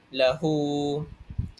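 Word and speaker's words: لَهُۥ: Contohnya seperti lahu. Kalau kita tengok pada ayat tersebut, selepas ha itu terdapat wau kecil. Jadi wau kecil itu ialah mad silah qasirah. Jadi hendaklah kita bacanya dengan dua harakat.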